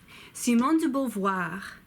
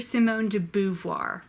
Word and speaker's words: Simone de Beauvoir: just do your best Simone de Beauvoir c mon dieu Beauvoir Simone de Beauvoir you may also hear Simone de Beauvoir but that sounds very weird to me Francois said young